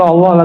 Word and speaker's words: Allah: Lailahaillallah ya bener nggak Allah Allah Allahu itu bukan lagu India ya Allah itu dzikir Masya Allah saya orang sudah bacanya Allah itu bukan dia lam ketemu lam Allah harus disambung bukan mati Allah secara huruf